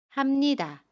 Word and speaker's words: 합니다: 동사 하다에 비읍니다를 붙인 합니다는 합니다 라고 발음해요. 받침 비읍을 미음으로 발음합니다. 합니다.